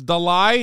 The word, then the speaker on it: Dalai: the it's Dolly it's Dalai not Dolly stop am I saying